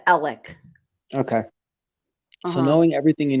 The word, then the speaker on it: Alex: and everything is it Alex or is it Alec Alec it's spelled Alex but they pronounce it Alec okay so knowing everything